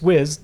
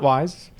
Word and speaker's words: Wiz: It's Wiz, not Wise.